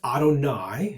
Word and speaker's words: Adonai: And so when we see in the Shema, the Tetragrammaton, they substitute this word, and it's Adonai, is how it would be pronounced, which means Lord.